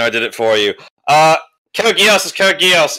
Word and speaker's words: Code Geass: Code Geass is Code Geass.